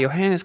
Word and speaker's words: Johannes: Johannes Kepler you know spell with a J pronounced with a Y Johannes Kepler he proved it